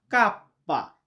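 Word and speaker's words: kappa: ইলুঙ্গা ইংরেজিতে যেটাকে বলা হয় যে কে এটাকে আমরা ইতালিতে বলি কাপ্পা।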